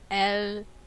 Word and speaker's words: Elytra: Now, an item was added to 1.9 that also can be enchanted with Unbreaking, and it's called the Elytra, as pronounced from the wiki. Yes, it's pronounced Elytra.